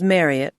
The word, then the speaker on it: Marriott: Her name was Marriott to rhyme with Harriet as Marriott had mentioned once.